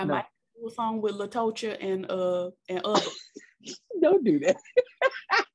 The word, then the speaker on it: Latocha: spelled i'm sorry because who told the girls that t-o-c-h-a is tasha because ch does not make the shell sound it makes the chest out her mama was wrong and she named her